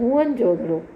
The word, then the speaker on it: मोहनजोदड़ो: मोहनजोदड़ो शब्द का सही उच्चारण आज जो किया जाता है मोहनजोदड़ो।